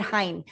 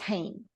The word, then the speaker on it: Hein: We say it hine. But it's pronounced hane because you pronounced it that way.